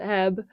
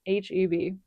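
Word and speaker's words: H-E-B: So, we love it here in Texas and it's not pronounced eb. I made that mistake when I first moved out here from California. It is pronounced H EB.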